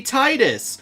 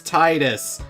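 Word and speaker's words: Tidus: willing to die on his name should be pronounced as Titus and that's what I'm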